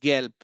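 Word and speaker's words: gelb: भी letter B बा जब भी लेटर ब किसी भी जर्मन वर्ड के लास्ट लास्ट में आएगा तो उसका प्रोनाउंसिएशन पा में बदल जाता है। Example here is गैल्प। Example here is गैल्प।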